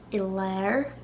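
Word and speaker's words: i lár: So in the middle is Ilar. Ilar. That's the Ulster pronunciation. Connacht and Munster, it'd be Ilar. Ilar.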